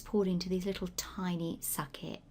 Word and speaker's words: sake: make your Japanese polite sake which sometimes is pronounced saki I think in English sake that's the traditional Japanese rice wine again it's got an optional honorific so you can either simply say sake or osake osake osake